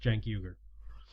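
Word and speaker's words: Cenk Uygur: last couple of months um and I understand Jake euger's name is pronounced Jack euger anyway um I might try and do a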